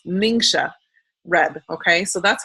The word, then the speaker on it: Ningxia: get your energy your energy up but it's pronounced mingsha red okay so that's how you pronounce it